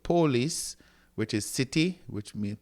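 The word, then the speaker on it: πόλις: here, then you have polis, not police, but polis, which is city, which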